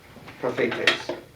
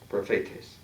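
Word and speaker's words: προφήτης: Prophetes. Should be emphasis on the middle syllable. Prophetes.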